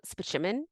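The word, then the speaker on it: Spaceman: doctor and it's pronounced it's spelled space man but he calls it specimen so he's like his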